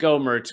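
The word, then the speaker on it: Gohmert: i i can see someone said that it's pronounced gomert which is the wrong way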